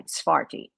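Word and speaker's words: Tsarfati: He's on Telegram, and it's spelled A-M-I-R-T-S-A-R, Sfar, F-A-R-T-I, T-S-A-R-F-A-R-T-I, Sfarti, Amir Sfarti.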